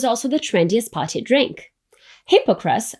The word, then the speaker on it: hypocras: Hippocras, or Hippocras if you stick to the French pronunciation, was a spiced and sweetened wine, so prestigious that kings gifted it to each other.